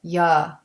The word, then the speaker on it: you: And for reduction, the word you is not pronounced with a clear oo sound. We pronounce it ya.